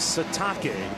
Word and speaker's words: Sitake: That's right, it is Sitake. That is the proper pronunciation.